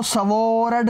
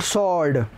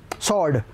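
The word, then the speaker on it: sword: उदाहरण के लिए, he killed the lion with a सॉर्ड, इसको सवॉर्ड नहीं बोलते बच्चों, इट्स कॉल्ड सॉर्ड, व साइलेंट, सॉर्ड।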